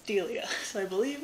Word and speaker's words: Delia: like the little videos to see if it's pronounced correctly because i thought it was dahlia i was like that sounds really wrong i was like maybe it's delia i was like that also sounds wrong it's delia so i believe it's delia green and she